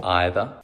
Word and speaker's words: either: Особенности произношения either. Either. Either. Either. Вечный вопрос either или either. Как видите, можно и either, можно и either.